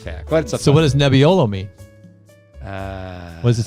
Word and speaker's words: Nebbiolo: grape are we trying it's nebiolo that'd be olo and the phrase that pace and it rhymes with my last name but i won't say my last name there it's nebbiolo and uh as if you